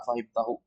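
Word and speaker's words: أفهمته: kita tahu ini bacanya afahimtahu pertama a-nya itu Hamzah istifha pasti dibaca a enggak mungkin I enggak mungkin u karena A itu artinya apa apakah Kemudian fahim fahim ini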